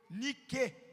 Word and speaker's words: Nike: Porque a palavra Nike, americanizado, pronunciado dessa maneira, é N-I-Q-E, Nike. A palavra grega, a pronúncia da palavra grega é Nike, e significa vencedor, vencedor, vencedor.